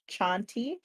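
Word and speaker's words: Chauntea: both yeah tonsi c-h-a-n-t-e-a I pronounce it Shanti but I have no idea how it's pronounced that's how okay so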